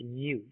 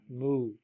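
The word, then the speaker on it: μ: line down that is the Greek letter me pronounced me right not mu me okay now there actually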